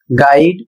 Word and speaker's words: guide: अगला शब्द है GUIDE और इसे पढ़ा जाएगा गाइड, इसका अर्थ होता है मार्गदर्शक।